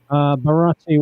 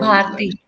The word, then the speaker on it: Bharti: Is it Bharati? How do you pronounce it? Do you know? Bharati? I'm Bharati. listening from Bharti. Bharti. Bharati. Okay. Yes. Bharti.